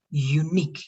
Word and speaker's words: unique: This one because it's the first time, but this one, the stress, unique in the last part, all right?